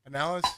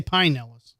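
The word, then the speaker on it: Pinellas: At least you didn't say pineellis. No. No. Why people say pineellis? Yes, they do. Yeah. Well, some up there we have things called pine trees. I don't think that's true. That's true. But it's not I mean it's not Pineellis.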